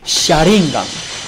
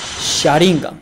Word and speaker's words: Sharingan: Sharingan. Sharingan.